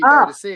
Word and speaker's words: Boadicea: Boudica, which used to be Boadicea, didn't it? So, right. Boudica is the British, isn't it? The British way of pronouncing it, and Boadicea is the Roman.